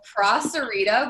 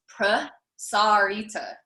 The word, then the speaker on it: prasarita: So prasarita, which I've been saying like that for 10 years, that's not how you pronounce that. It's prasarita.